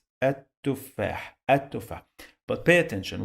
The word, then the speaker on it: التفاح: and here I say التفاح التفاح. But pay attention, we have a letter here that we dropped, we didn't pronounce. It is lam, sounds like L, but we drop it.